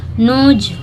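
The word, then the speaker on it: knows: होंगे ठीक है नोज नोज में आप देखेंगे कि डब्लू साइलेंट रहता है सॉरी नोज डब्लू में डब्लू भी साइलेंट है के भी साइलेंट है अगर के के बाद तुरंत एन आया हो तो के साइलेंट रहता है एन से उसकी स्पेलिंग होती है तो उसको पढ़ते हैं नोज ठीक है तो आशा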